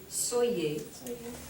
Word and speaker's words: soyez: So anywai, so the different forms of être are pronounced soit, and then soit, same pronunciation, soyons, soyez, and then soit again, soit.